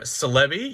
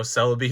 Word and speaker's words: Celebi: Entei and then our Celebi yes that's how I say it like celebrity I know Celebi is probably the correct one but it's just always